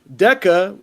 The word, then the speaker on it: DEKA: But yeah, so it says Cobb County Sheriff's Office has introduced new DECA, which is spelled DEKA, Sentry robots to enhance security in Georgia's jails.